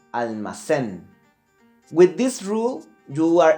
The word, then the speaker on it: almacén: One last example would be almacén. It finished in the letter N, almacén. But the accent will be located in the last syllable, almacén.